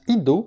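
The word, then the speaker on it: eido: Connais, qui vient du grec ido, qui s'écrit E-I-D-O, mais qui se prononce ido, qui est dans le sens de percevoir avec les yeux.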